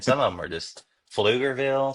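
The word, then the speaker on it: Pflugerville: of them are just fuger Ville starts with a P I mean I love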